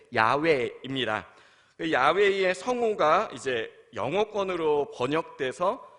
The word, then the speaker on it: 야훼: 학자들이요, 가장 비슷하다고 생각하는 발음은 사실 야훼입니다.